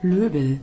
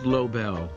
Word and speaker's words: Lobel: I realize he has one of those names with a bunch of different pronunciations. Lobel. Lobel. Lobel. But thankfully, this handy website has author recordings. Hello, I'm Arnold Lobel.